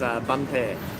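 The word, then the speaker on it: Bến Tre: Not too far south of Saigon is a province called Benche, and actually they will pronounce it as Bunpe, so quite a different pronunciation there.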